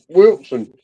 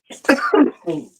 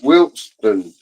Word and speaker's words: Wilson: Wilson. Wilson does not have a T in it, but people still pronounce it Wilston. Wilston is the way they pronounce it.